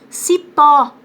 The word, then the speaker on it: cipó: Cipó, é o pó que é mais forte.